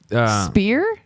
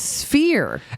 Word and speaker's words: Sphere: Like Spear? Is it Sphere? It's Sphere. Every time I say it, you say I say it wrong, so I have a complex now. Yeah, because you say spear every time. It's not spear.